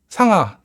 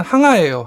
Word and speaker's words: 항아: 원래는 항아예요. 항아인데 중국에서 이제 한무제 이름이 항이었다네요. 그래서 같은 이름은 안 쓰게 돼 있어서 발음을 바꿔서 상아라고 합니다. 동아시아에서는 보통 상아라고 하는데 원래는 항아입니다. 중국어로는 창어가 되죠.